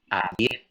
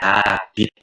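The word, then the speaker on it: habite: Nah, kalau yang informal itu ada il atau l, abid, u. Abid ya, bukan habit ya, bukan habit, tapi abid.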